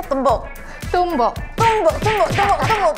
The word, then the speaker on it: tumbuk: How do you say tumbuk?